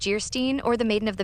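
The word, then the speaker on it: Geierstein: An of Jayerstein, pronounced Gerstein, or the maiden of the mist by the author of Waverly.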